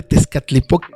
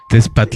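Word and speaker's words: Tezcatlipoca: Entonces, a mí me costó muchos años pronunciar correctamente Tescatlipok, porque luego lo pronunciaba yo, eh, Tespat o algo así, ¿no?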